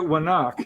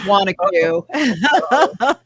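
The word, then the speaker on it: Wanaque: Which I always is pronounced it Wannock. It's Wanacue? it's Wanacue. Yes, we hear all, no, you can't know unless you're in the area.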